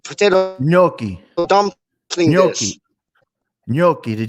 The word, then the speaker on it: gnocchi: Not nachi. It's gnocchi, isn't it? Like the potato dish, like the like potato gnocchi dumpling dish. Gnocchi, the G silent.